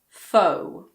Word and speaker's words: faux: The most common one is probably faux. Faux. It comes from French.